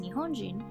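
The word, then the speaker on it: 日本人: This word is pronounced Nihonjin, with the first 2 kanji retaining their pronunciation from Japan and the last kanji being pronounced as jin.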